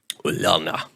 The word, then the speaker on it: Ulana: Yeah, I think they pronounce that with a U sound. Ulana.